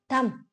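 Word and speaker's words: thumb: तो ये जो बड़ी उंगली है, सबसे मोटी, अलग जो है बाकी फिंगर्स से, इसको कहते हैं थंब, थंब, थंब। और ये भी साइलेंट है इसमें।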